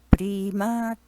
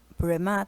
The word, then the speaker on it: prema: あのこれ本場の人が発音するとプリマって知り上がりになるんですね。あの風さんはちょっとアメリカンな発音であのプレマとかね、プレマとか言ってましたね。